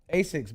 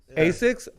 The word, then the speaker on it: Asics: Asics, basics. Asics.